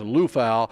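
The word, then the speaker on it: Liufau: last name it's spelled l IU F Au pronounced Lal and this guy has been described as the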